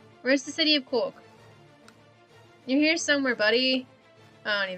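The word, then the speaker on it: Corcaigh: when i realized that oh c-o-r-c-a-i-g-h is cork as in c-o-r-k i'm like ah neat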